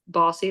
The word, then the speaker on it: Bossy: And the reason I say that as Bossy has, our name is Bossy, that's how we pronounce our organization, is Bossy collaborated with